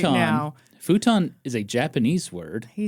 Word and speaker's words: futon: The American pronunciation is futon. Right. Right. I would pronounce it as futon.